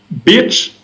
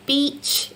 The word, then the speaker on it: beach: So this is a really tricky one that all French speakers have, this difference between the E and the I sound. So if you put an accent on the I sound, you accidentally say bitch, which is quite a rude term in English. If you want to say beach, it's an E sound, and you have to